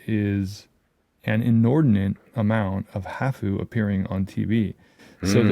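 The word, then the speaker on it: ハーフ: And then when we say hafu, that's the Japanese pronunciation of half.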